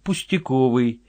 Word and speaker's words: пустяковой: если можно так сказать человек пустяковой с ударением на последнем слоге служащий ничего больше Николай